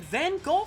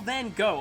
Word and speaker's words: van Gogh: is it van Gogh or van Gogh apparently both pronunciations are correct anyway welcome to super